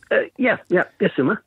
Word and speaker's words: Issuma: Issuma.